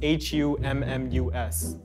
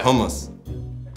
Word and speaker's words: hummus: How do y'all pronounce H-U-M-M-U-S?